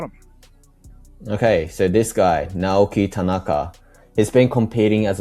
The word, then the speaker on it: Naoki: Yes, Naoki.